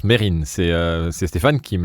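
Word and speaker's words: Mesrine: c'est meserine enfin mais mais meserine ne se prononce pas meserine ça se prononce Merine c'est c'est Stéphane qui me l'a appris au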